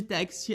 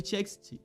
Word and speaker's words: TXT: grupo e até mesmo pronunciando incorretamente o seu nome, os chamando de Text ao invés de TXT.